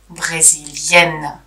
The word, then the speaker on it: brésilienne: And here also the pronunciation changes. Autrichien, autrichienne. Brésilien, brésilienne.